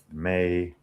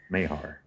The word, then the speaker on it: Mayhar: Not Mayher, Maher, Mahar, Mayor, Mayhar. You gotta get the Arkansas twang to make it sound right. Mayhar.